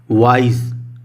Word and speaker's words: wise: आप ध्यान देना कि इस स्पेलिंग में एंड में SE है तो आप इसे प्लीज़ सा प्रोनाउंस मत करना। वाइज, जा के नीचे बिंदु लगा होता है, यानी कि वाइज, बहुत हल्का सा जा पढ़ा जाता है, ठीक है।